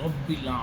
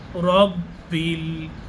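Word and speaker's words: رَبِّ: করে আনতে হবে আলহামদুলিল্লাহি রব্বিল রব্বিল র উচ্চারণ আনতে হবে দেখবেন মানুষ পড়ে রাব্বিল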